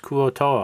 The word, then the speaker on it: Kuo-toa: This middle portion uses the Adventures and Wandering Monster tables from D2, Shrine of the Kuo-toa. And for the record, it is pronounced Kuo-toa.